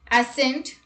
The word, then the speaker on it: ascent: C is not pronounced in the combination SC. Let's look at the examples. Muscle, scissors, ascent, miscellaneous, fascinate, scenario.